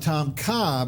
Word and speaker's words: Tom Kha: take it another step and we call it Tom Kha believe and this is taking the beautiful coconut